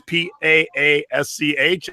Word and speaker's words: Paasch: It is Paasch, and I said, how do you say it? And she goes, just like Posh Spice.